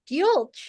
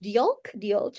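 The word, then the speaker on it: diolch: Maltese thanks Priscilla and Maria bjulch is that am I pronouncing that correctly Mana um d d i o l c h d yolk that's Welsh says um so there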